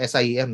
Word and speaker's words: SIEM: or what we call an SIEM, or SIM, depending on how you would want to pronounce it, where it aggregates all